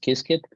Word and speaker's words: Qiskit: Pronounced Qiskit.